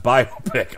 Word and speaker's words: biopic: crew musical biopic biopic my wife tells me it's pronounced by pic I want to say